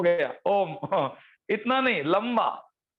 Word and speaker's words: ओम: ओ बोलेंगे तो मुंह खुला रहेगा, म बोलेंगे तो ओठ चिपक जाएंगे और आपकी लिप चिपक जाएगी, और जो म का उच्चारण है वो पूरे ऊपर के चक्र को वाइब्रेट करेगा।